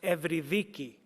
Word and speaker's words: Eurydice: In Greek, the name Eurydice is pronounced Evrydiki, and I chose to sing that into the score as Orpheus goes down to search for his lost love.